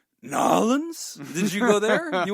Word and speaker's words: New Orleans: you went down to, I believe the place is pronounced Nolans.